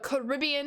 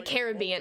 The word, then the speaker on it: Caribbean: Nope, that's versus the Caribbean. I think when growing up, I always said the Caribbean. As I've gotten older, I've said the Caribbean. I feel like it's like the lazy pronunciation.